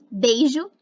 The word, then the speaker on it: beijo: O ditongo EI pode ser pronunciado como E. Beijo é pronunciado beijo. Queixo é pronunciado queixo. Cheiro é pronunciado cheiro. Mineiro é pronunciado mineiro.